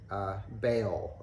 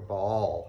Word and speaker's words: Baal: But they're also going and worshiping Baal or Baal, however you want to pronounce it.